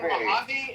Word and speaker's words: Mojave: Yeah, in Mojave and then you have You said it right.